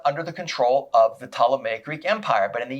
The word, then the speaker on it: Ptolemaic: But the two big empires that are going to concern us are going to be the Ptolemaic Empire, or the P is silent, otherwise it's Ptolemaic Empire. The Ptolemaic Empire and the Seleucid Empire.